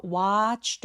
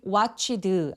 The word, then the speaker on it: watched: 이 ch처럼 성대가 울리지 않는 무성음으로 끝나는 동사 원형은 ed가 붙으면 t로 발음이 됩니다. 그래서 내 아무리 e가 내 눈에 보인다고 하더라도 발음되지 않고 ed는 통틀어서 뭐다? t.